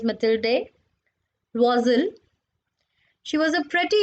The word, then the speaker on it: Mathilde: So this is not Matilda, it is Mathilde.